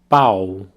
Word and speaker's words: pau: So quick pronunciation practice, repeat after me the word for dick, pau, pau. Very open a sound there, pau.